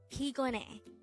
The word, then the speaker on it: 피곤해: If you want to say I'm tired, you can say 피곤해. Again, 피곤해. This is pronounced as a three-syllable word. The first syllable is pi, second syllable is kon, and the third syllable is he.